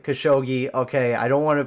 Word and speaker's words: Khashoggi: one right when the journalist uh Jamal uh Kash Hagi I don't know if I'm saying that right khashoggi okay I don't want to pronounce anything wrong but I'm sorry for that